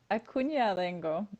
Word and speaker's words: Acuna-Dengo: Acuna-Dengo.